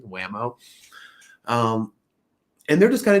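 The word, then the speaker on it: Whameaux: and wamo uh and it's spelled w-h-a-m-e-a-u-x like he's French or something whamo um and they're just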